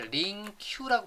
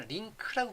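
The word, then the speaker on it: LINQ: 자, 여기다가 컨트롤 CV 눌러서, 링크, 제가 발음할 때 링큐라고 발음 안 하고요. 링크라고 발음합니다.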